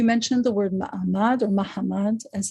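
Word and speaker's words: Mahamad: right so you mentioned the word mmad or Mahammad as it's pronounced in in Portuguese Hebrew and this was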